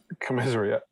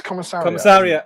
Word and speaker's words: Commissariat: Commiserate. What? That one? Yeah. Commiserate. That's what I said. Well, you corrected me last time. No, it's commissariat.